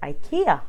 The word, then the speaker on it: IKEA: IKEA and so I used to call it a Kia all the time and us living in Singapore however when I moved to Australia I everyone called it IKEA I here I supposed to eat here so